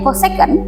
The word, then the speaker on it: cosec: Nah, ini bacanya cosec atau kalau disingkat tuh CSC x itu sama dengan CSCX cos tang X.